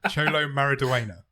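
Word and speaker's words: Xolo Maridueña: You know, It's pronounced Cholo. Cholo Mariduena.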